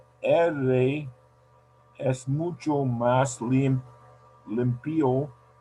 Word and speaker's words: limpio: So the accent is in the first syllable, limpio. Because if you put the accent in the end, it sounds like the verb limpiar in past. So when you say limpio, it means he cleaned or she cleaned.